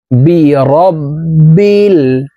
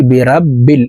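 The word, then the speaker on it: بِرَبِّ: দিয়ে উচ্চারণ করতে হবে বিরব্বিল এই রকে রা বলে উচ্চারণ করি আমরা অনেকেই বিরাব্বিল এভাবে পড়ে থাকি পড়তে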